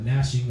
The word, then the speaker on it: gnashing: All right, the G on that is silent. All right, gnashing of teeth.